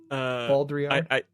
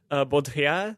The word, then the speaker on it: Baudrillard: Baudrillard. I pull it from my sort of non-existent French accent, but which I can replicate fairly well. Baudrillard.